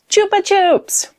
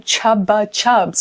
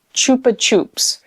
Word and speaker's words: Chupa Chups: I was shocked to find out that a lot of people call them Chupa Chups, like with a B. And I actually had a conversation when I was like, no, it's a P.